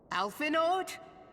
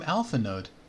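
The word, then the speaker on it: Alphinaud: mistaken what an entrance alphenord master garland another person called him alphanode and you dear friend the d is silent by ralga you're alive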